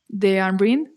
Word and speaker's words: Deanryn: by your name a social media uh is De ambrin which is like a short for my full